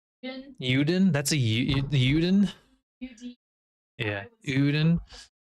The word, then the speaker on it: Euden: main character, and I don't know how to pronounce Uden's name. Euden. Uden?